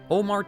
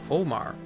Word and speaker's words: Ómar: I don't believe it's an accident that this Maya is called Ómar, as it phonetically matches to Homer, the famous Greek poet who wrote the Iliad and Odyssey back in the 8th century BC.